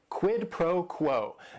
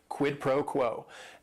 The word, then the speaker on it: quid pro quo: And it is 3 words. Each word is only 1 syllable. And if you're saying it together, the stress is kind of on that first word and that last word.